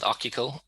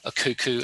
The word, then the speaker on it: Akiko: for a company called akiko and well done irena on the pronunciation earlier we often get a cuckoo and all sorts of uh funny derivations of that um so we're